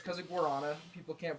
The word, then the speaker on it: guarana: It turns out it's because of gorana. People can't pronounce that word but gorana is a Brazilian fruit.